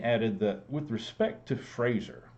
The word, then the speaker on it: Fraser: In an alarming note, he added that with respect to Fraser, rhymes with laser, we can better pay